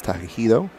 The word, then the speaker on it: Takahito: I know it's Takahito.